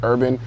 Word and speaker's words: hrbvn: but like I said I go by urban on Instagram that's HR bvn don't mispronounce it it's pronounced urban because the inspiration comes from the plant and